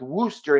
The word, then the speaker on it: Worcester: It's pronounced Worcester in Massachusetts, and I should know. I used to live in Worcester until I moved here to New York.